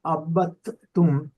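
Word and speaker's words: عبدتم: करूं, मा आबिदुम मा अबत तुम, तो यहाँ पे जी, दाल साइलेंट है, दाल नहीं पढ़ा जाएगा, ते को 2 मरतबा पढ़ा जाएगा, अबत तुम, अबद तुम, जी जी, जी ता पे तशदीद है जी।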